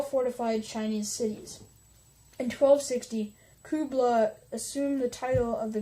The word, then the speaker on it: Kublai: forces were directed by Kublai Khan who oh sorry I've been saying it as Bulai it's actually Kubla so yeah as the